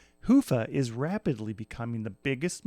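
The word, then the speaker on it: Hyvä: talk Commerce is sponsored by hia or as the Europeans say Hua or the right way to say it Hua is rapidly becoming the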